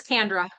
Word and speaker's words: Kendra: Yep, it's Kendra, just like Sandra with the K.